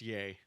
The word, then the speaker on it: Ye: be yay is that how you're supposed to say that like Kanye or is it you it's yay yeah Kevin Sorbo doesn't know any better uh but he's just spelled that way it was spelled the same I thought Yeezys were though like no maybe Yeezy I thought it was yay because Kanye it's just yay yeah that'd make more